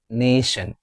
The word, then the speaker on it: nation: Is it nation or nation? Which one is correct? It's nation. It's having two syllables.